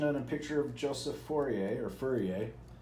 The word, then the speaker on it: Fourier: a picture of Joseph Fourier or Fourier it's kind of pronounced like a furrier uh is but it's Fourier or Furrier or Fourier talks about his position